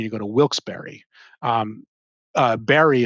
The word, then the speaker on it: Barre: Um, Barry is the way they pronounce Barre.